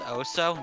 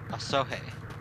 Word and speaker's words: Osohe: Please, it's Oso? Now I'm gonna get it wrong. It's Oso? Oh, I guess the E is silent. Osohe. Aswaha.